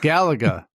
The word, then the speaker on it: Galaga: that's definitely not right yeah Galaga it's got to be Galaga yeah it's like Gallagher you know no one said